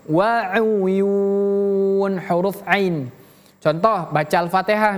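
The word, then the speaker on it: وَعُيُونٍ: Innal muttaqina fiilal waun wau. Nah, di sini kita bertemu dengan huruf ain. Huruf ain berbeda dengan huruf hamzah ataupun alif. Jadi bacanya wau wau wau ya bukan waun tapi wauyun.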